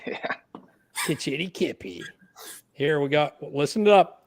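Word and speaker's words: Kitchiti-kipi: Kitchitty Kippy. Yeah. Kitchitty Kippy.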